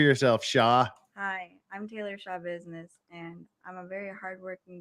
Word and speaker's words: Schabusiness: to say for yourself shaw hi i'm taylor shaw business and i'm a very hard-working dedicated individual that's